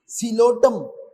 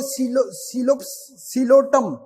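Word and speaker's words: Psilotum: अच्छा, इसमें भी पी साइलेंट है, सिलोटम, इसको आप लिखोगे पी से, लेकिन पढ़ोगे सिलोटम।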